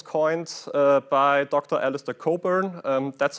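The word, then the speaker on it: Cockburn: Alistister Coburn. Um that's how his name is pronounced.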